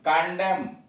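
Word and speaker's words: condemn: यन silent कहाँ कहाँ, atom, ए यू टी यू यम यन, यहाँ यन का उच्चारण नहीं है। आटम, पतझड़, सी ओ एन डी ई एम एन, कंडेम, कंडेम, निंदा करना।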